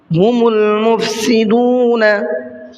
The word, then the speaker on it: هم المفسدون: سا زیادہ کھینچنا ہے۔ ہم المفسدون، ہم المفسدون میں یہ دیکھیے الف ہے، یہ الف نہیں پڑھا جائے گا، میم کو ڈائریکٹ لام میں ملانا ہے۔ وَلَكِن لَا يَشْعُرُونَ، وَلَكِن